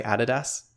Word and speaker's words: adidas: guys say it differently it's like adidas you guys say adidas and we say added us which i think is